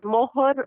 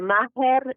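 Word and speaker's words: mahr: But meher is sometimes called mohor or maher. It's pronounced differently.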